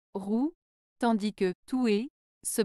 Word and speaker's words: rouer: en terme de prononciation rou se prononce avec le son ou comme dans rou tandis que tou se